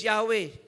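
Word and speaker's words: Yahweh: it is ego in Hebrew the word is Yahwe. That is a tetragramon. Yeah. Yahwe walang walang vowel. Oo. Four consonants, four letters. But ang pronunciation is Yahwe.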